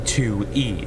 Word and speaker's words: Tui: As you guys can see, this is Tui, and it also helps you say how to pronounce it, being 2E.